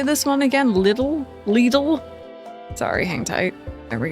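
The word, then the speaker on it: Lidl: Little.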